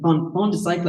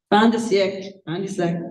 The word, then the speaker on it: fin de siècle: Paris, no offense, like Fond de Cycle, I can't pronounce it, Karen's gonna laugh at me. How do you say it? Fond de Cycle, Fin de siècle, yeah, very smooth.